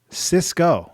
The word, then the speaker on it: Cisco: He says the last name is pronounced Cisco, like the rapper.